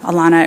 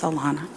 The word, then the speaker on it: Alana: Alana, it rhymes with iguana. People call me Alana all the time, but it's Alana.